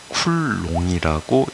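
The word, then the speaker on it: Coulomb: 힘이라고 해 프랑스 분이거든요 그래서 이름이 쿨롬이라고 쓰여졌지만 읽을 때는 쿨롱이라고 읽어야 해요 자 여기에 어떤 전화가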